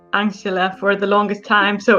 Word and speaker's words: Anxhela: have the correct name it's angela it's angela angela peristerium it's like just angela okay and angela's song